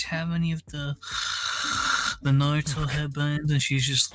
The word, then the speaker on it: Naruto: she said it wrong it wasn't naru though something like naruto the pokemans headband pokeman